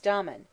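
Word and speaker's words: Damon: most writers state was Domon whose name they say should be pronounced with the first syllable short but Aristotle says he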